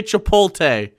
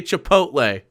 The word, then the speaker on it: chipotle: chipotle i hate chipotle don't say chipote okay every single one of you get chipotle out of your mouth and say chipotle and you get the creaminess of mayonnaise look at how it's spelled god damn it hell